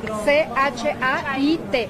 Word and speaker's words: Chait: C-H-A-I-T. Chait. Se pronuncia Chaite, como Chaite.